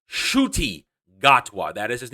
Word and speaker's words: Ncuti Gatwa: doctor who star such education actor it is pronounced shooty gothwa that is his name shooty got one as